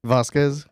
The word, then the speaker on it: Vasquez: right that's right how do you say it vasquez we are very honored that you are here